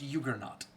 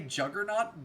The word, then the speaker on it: juggernaut: It is technically pronounced Juggernaut. We all say Juggernaut, but technically technically the J is supposed to be a Y in the native language.